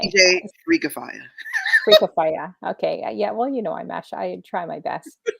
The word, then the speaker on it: DJ Freak Fire: Say it like DJ Freak Fire. Freaky Fire. Okay. DJ Freak Fire.